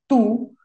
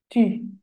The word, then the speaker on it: tu: del español sino es tu para pronunciar esta u en francés la u solita haces los labios como si fueras a pronunciar una u pero el sonido que sale es el de una I I I I ti